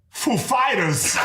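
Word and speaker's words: Foo Fighters: said he asked us if the accent was on Foo or Fighters and we know who he is like of course we know how he speaks and we said uh the accent is on Fighters actually so he he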